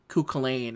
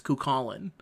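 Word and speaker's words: Cú Chulainn: when I learned that Kukulain is not pronounced Kukulain, it's Kukulin. And from then on, I was like, yes, it is not how you, it, like, I know, because you're thinking it's like a CH when it goes like that. No, it's Kukulin. That's how you say it. That's how you're supposed to say it.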